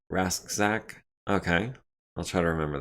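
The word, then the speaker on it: Rasczak: reader is the program you used uh it's pronounced rasak okay i'll try to remember that referencing the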